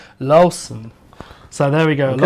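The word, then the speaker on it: Loosen: Lucen, this is Mosel, and they make lots of different wines, lots of different wines. We have a pronunciation check on that. It's more like Lawson.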